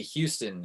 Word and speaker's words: Houston: I used to always say Houston, and my dad would always say it like Houston Street, and my dad was like, you cannot be a New Yorker if you say Houston Street. It's Houston Street.